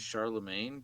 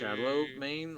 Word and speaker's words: Charlemagne: Shallow main, like shallow waters. Why are you or- so shallow, man? That. Like Gucci Mane.